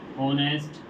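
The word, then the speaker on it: honest: वो इसलिए हुआ है क्योंकि यहां पर एच साइलेंट है। एन ऑनेस्ट मैन यहां पर भी हमें यही देखना है। एच हमारा यहां पर साइलेंट है। ऑनेस्ट इसको हम पढ़ते हैं इसलिए हमारा यहां पर एन का प्रयोग।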